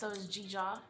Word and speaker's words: Dzidzor: It's Dzidzor I'm sure that this will be written out because it's not phonetically spelled.